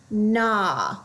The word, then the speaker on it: gnaw: You then should notice you have a GN. The G will be silent. All you hear is the N. This word is gnaw, like when you're chewing on something. Gnaw.